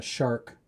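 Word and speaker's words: SHARC: has a modern uh DSP so it's a shark DSP shark is spelled s h a r c and they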